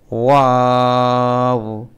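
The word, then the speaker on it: واو: মিম নুন নুন নুন ওয়াও ওয়াও ওয়াও হা একদম গলা ছেড়ে হা আর এই যে ওয়াওটা বলেছি ওয়াও বলার সময় ঠুটগুল করতে হবে ওয়াও আর এটা একদম গলা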